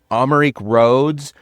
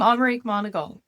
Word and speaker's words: Amerique Monagle: very very special guest, Amarik Roads, who is a expert in Jim Henen. Did I say his name right? Jim Henson. Yeah, but you said my name wrong. I'm Omar Monagal.